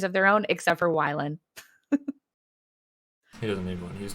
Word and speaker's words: Wylan: So it is Wylan and not I Wayland.